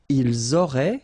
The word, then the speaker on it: ils auraient: Ils auraient, so liaison here. Elles auraient. And then look, if you've got A-I-E-N-T, then phonetically it goes like aurait.